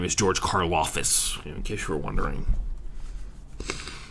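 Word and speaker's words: Karlaftis: uh the way the na the way you pronounce his name is george karloffus in case you were wondering uh this is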